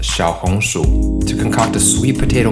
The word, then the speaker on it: Xiaohongshu: uses a play on the chinese words for little sweet potato pronounced shao hong shu to concoct a sweet